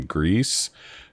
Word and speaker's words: Gris: same people that did the game Grease, or GRIS is how it's spelled.